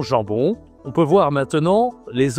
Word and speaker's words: jambon: OK, le jambon. toujours la nasale hein, il y a deux nasales même en on gens bon. D'accord, c'est masculin. Et puis voilà la charcuterie c'est souvent ça. Saucisson, jambon.